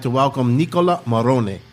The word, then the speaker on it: Marrone: I'd like to welcome Nicola Marrone. That's how you say your last name? Marrone. Okay, I said it right.